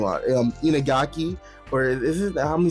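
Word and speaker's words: Iñaki Godoy: And even like, the cast of characters like Inagaki, I forget how to pronounce his name, Inagaki, or is it, let me see, let me look up his name real quick. Inaki Godoy.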